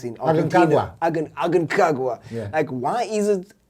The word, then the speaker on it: Aconcagua: these Kilimanjaros, the Everest, I think I can't pronounce it. Aconcagua.